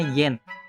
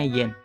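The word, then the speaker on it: 円: N itu dibacanya yen. Ditulisnya N ya, tapi dibacanya yen. Hati-hati.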